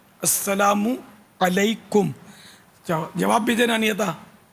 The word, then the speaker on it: السلام علیکم: سلام کرنا نہیں آتا، السلام علیکم اس طرح سلام کرتے ہیں، حالانکہ یہ نہیں ہے. السلام علیکم، السلام علیکم.